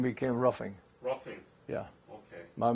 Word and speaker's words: Ruffing: ruffing r-u-f-f-i-n-g but in Germany where my family come from they had a umlaut over the U H and my father said they pronounce it with a roofing you know but they